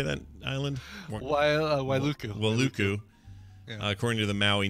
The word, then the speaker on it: Wailuku: Wailuku.